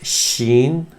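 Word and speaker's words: شين: Then comes the next letter, which is sheen, as in sh or she.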